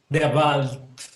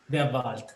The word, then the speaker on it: Der Wald: ¿Cómo pronuncias eso, Pulpo? Der Wald. Okay, the Wald. Der Wald, yeah.